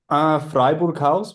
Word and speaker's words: Freiburghaus: How would you pronounce it then? You might get it similar to what I said, so we'll see. Freiburghaus would be the probably the most correct way. Okay, Freiburghaus.